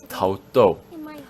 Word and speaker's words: Tao Du: This word can be pronounced in two ways, do and du. Since it was spelled du in the live stream, I thought they were going for the du that's used for capital cities, you know, like Chengdu or Kyoto, Jingdu in Chinese. Yeah, it's pronounced to in Japanese. However, normally the word is pronounced do. Oh, and yeah, I'll get